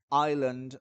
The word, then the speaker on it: island: island island we say island not island the s is silent okay we do not